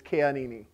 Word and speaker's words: Keanini: And in all of the Hawaiian language, this is a lesson in Hawaiian language, but you just pronounce all the vowels. So basically, my last name is Keanini.